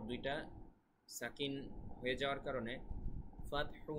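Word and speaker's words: فتح: এক আলিফ টান হবে ল এখানে তারপরে ওয়াল ফাতহ এখানে কিন্তু পরপর দুইটা সাকিন হয়ে যাওয়ার কারণে ফাতহু না বলে আমরা ফাতহ ফাতহ মানে হা টা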